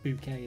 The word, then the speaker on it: Bucket: She's called Hyacinth Bucket, but she pronounces it Bouquet and stuff like that.